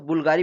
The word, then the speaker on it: BVLGARI: प्रश्न 10वां है, Italian luxury brand बुल्गारी, यहाँ पे BVLGARI है, लेकिन इसका जब प्रोनाउंसिएट करते हैं तो बुल्गारी पढ़ते हैं इसे।